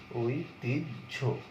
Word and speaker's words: ঐতিহ্য: তোমার দেওয়া আছে ধরো ঐতিহ্য, হ্যাঁ, ঐতিহ্য বানানটা এরকম, কিন্তু উচ্চারণ ওই তি ওই তিজ ঐতিহ্য, এইভাবে ঐতিহ্য।